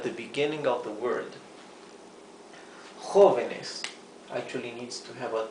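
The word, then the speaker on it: joven: r is at the beginning of the word Hoven actually needs to have a te here Hoven means young in plural the singular of Hoven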